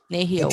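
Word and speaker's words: nêhiyaw: Nehio.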